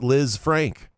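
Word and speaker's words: Lisfranc: Number one, Liz Frank is pronounced Liz Frank.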